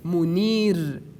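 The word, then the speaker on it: منير: Again, we pronounce it in tarqiq. Like the example we say, as you see in the screen, munir, munir, munir.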